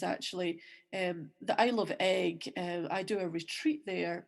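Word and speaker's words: Eigg: It's EI G. It's actually a Norse name. You would think that, you know, it might be in Gaelic, but I think the word egg itself is actually Norse.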